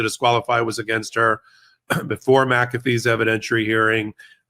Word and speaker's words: McAfee: unwind the guilty plate you have an interesting way of pronouncing the judge's name maffy it's ma it's McAfee oh my gosh I